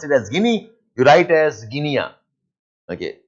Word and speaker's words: Guinea: You have a country called Guinea. Ivory Coast. Guinea. Gu U I N E A. You pronounce it as Guinea.